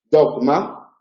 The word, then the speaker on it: dogma: La G en posición implosiva seguida de nasal, dogma, debe pronunciarse como una oclusiva relajada, una aproximante dogma.